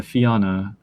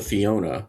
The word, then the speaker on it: Fianna: Yeah, the Fianna, also known as the Fianna or other pronunciations. Not the Fiona, which is No. Similar origins, though, etymologically, which is kind of cool.